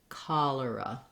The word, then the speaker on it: cholera: So in this case, you might want to try lura, cholera. And you're going to be lengthening on your call, and then your lura are going to be shorter.